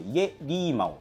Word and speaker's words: 夜狸猫: となってるこれイリーマとはですね中国語で夜を表す家という言葉とたぬき猫と書いてこれリーマって言うんですけどが